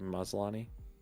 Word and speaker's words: Maslany: I think that's how you say her name, Maslany.